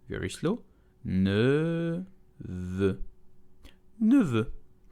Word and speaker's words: neveu: Today we will learn how to pronounce neveu in French, which means nephew. Let's go. Neveu. Neveu. Very slow. Neveu. Neveu. So here you have two vowels and neither exist in English.